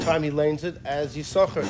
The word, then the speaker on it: Yissachar: Usually, I imagine the Baal Koreh here pronounces it every time he lanes it as Yissachar. The second sin is silent.